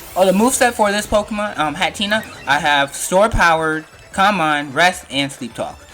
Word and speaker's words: Hatterene: Alright, so I had Hatterene, that's how you pronounce it.